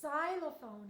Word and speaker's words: xylophone: lots of slam team this is xylophone it sounds like it should start with the Z but it actually starts with a silent X Y they ever put